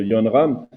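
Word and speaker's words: Jon Rahm: Alors, moi, je suis pas de près le golf, mais je me rappelle de Yon Ram. Je savais pas qu'on disait Yon Ram au niveau de la prononciation, merci.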